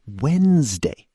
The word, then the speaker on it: Wednesday: Same with Wednesday. It's Wednesday. Where did the D go?